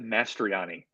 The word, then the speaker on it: Mastroianni: it that's all right I pronounce it mastryani mastroni there's three bells in a row it's a real labyrinth